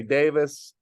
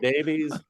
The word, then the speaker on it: Davies: Or as some people say, Davis. Although even when I've seen videos of him being asked how it's said, after he explains it, I'm still confused. So Ray Davies, Ray Davis. Oh, really? He accepts Davis? Well, Davis, I think, is the way they do say it in England, because